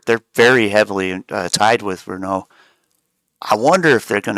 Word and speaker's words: Renault: don't want to say I know renault's kind of popular but or Renault if you want to say it correctly but I I see